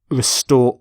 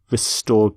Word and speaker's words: restore: and we restore confidence restore order that's a common collocation restored peace restored democracy note the pronunciation of restore not not restore but restore and as a verb you